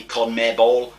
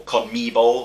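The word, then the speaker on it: CONMEBOL: coming ball it might not be how it's pronounced it might be con mere ball or con me ball or c-o-n-m-e-b-o-l basically the south american football federation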